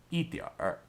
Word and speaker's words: 一点儿: And did you notice that R sound at the end? This pronunciation style is more common in northern China, whereas in southern China, you might hear it pronounced 一点.